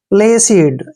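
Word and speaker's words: placid: नहीं जानते हैं देखिए पी एल सी आई डी देखिए इसका उच्चारण कैसे करेंगे हम पी का जो उच्चारण है प करते हैं प ऐसे और एल को ल लिखते हैं ए को ए की मात्रा पढ़ने है और सी आई का उच्चारण सी करना है और डी को डे पढ़ेंगे प्लेसिड ऐसे प्लेसिड देखिए प्लेसिड प्लेसिड क्या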